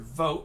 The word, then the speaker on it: vote: Remember the word vote we've been practicing. There's an E on the end, which means the O in vote makes a long O sound. It sounds like vote.